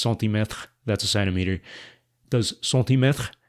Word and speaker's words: centimètre: Like, I don't really know if you agree with that, but in French, it's centimètre.